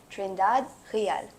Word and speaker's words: Trindade: host and today we have with us trindad did I say it right yes perfect